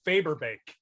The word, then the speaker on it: Fagerbakke: Bill Fagerbakke.